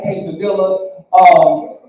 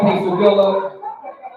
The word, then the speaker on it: quesadilla: I had a quesadilla, yeah, we pronounce our L's around here. I had a quesadilla.